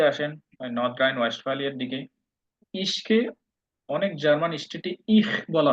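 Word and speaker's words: ich: যেটাকে বলা হয় মানে স্ট্যান্ডার্ড জার্মানে হলো ইশ তবে এটাকে ইখ বলা হয় আপনারা যদি কোথাও শোনেন ইহপিন এটাও সঠিক এটা ভুল না উচ্চারণ ইশকে আপনারা ইখিনও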